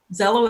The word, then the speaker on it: Xello: Zello is spelled Xello. It's their new trademark name. Okay. So not even close to like Zillow, where you go online and find the value of your home.